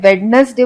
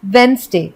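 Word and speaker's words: Wednesday: और ये सबसे कॉमन मिस्टेक जो लोग करते हैं, वेडनेसडे बोलते हैं, लेकिन वेडनेसडे नहीं होता है, क्योंकि वेडनेसडे में डी साइलेंट होता है और एक्चुअली में इसे हम बोलते हैं वेंसडे। तो वेडनेसडे करेक्ट प्रोनाउंसिएशन नहीं है, करेक्ट प्रोनाउंसिएशन है वेंसडे।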